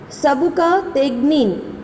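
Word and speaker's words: Sabuktigin: And the army of Sabukategni, remember the pronunciation, Sabukategnin, right?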